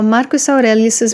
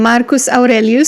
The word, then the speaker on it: Marcus Aurelius: want to talk about Marcus aurelius's meditations book I will be pronouncing his name Marcus Aurelius is that's how Romanian would pronounce it and I don't know